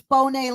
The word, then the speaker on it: Bonne: Sometimes they call me Bone, because it's Bonne like Monet if you have the little asterisks over the E.